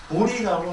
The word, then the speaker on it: 보리: 그런데 부처님의 그 깨달음은 보리라고 합니다. 보리. 그래서 한자로는 보제 이렇게 쓰는데, 읽을 때는 뭐라고 읽어요? 보리라고 읽어요. 보제라고 쓰고 보리라고 씁니다.